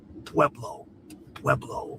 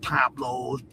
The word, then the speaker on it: Pueblo: You can't say the word Pueblo. Pueblo. Not Pablos, Pueblos, whatever they've been saying.